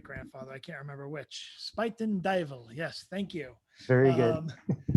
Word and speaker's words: Spuyten Duyvil: blue nocturne notebook and say the pronunciation again pronounce the uh the name of the purse again uh spiten devil spiten dival right now james van loy who can only